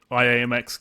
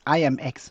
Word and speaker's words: IAMX: of philosophy the it's it's pronounced I am X so I am so today you are